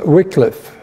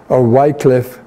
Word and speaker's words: Wycliffe: Lollards, that was Wycliffe, or Wycliffe. It's pronounced different ways.